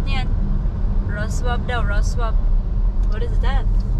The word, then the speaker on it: Wrocław: Pronounce niyan. Wrocław daw, Wrocław.